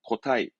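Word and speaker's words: 個体: 예, 고체가 아니라 개체, 한 개체를 말하는 발음은 고타이, 고타이.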